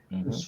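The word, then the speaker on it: eau: E você escreve E-A-U, e se pronuncia O.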